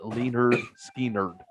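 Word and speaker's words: Lynyrd Skynyrd: their first album was called pronounced leaner skinner like they were uh that's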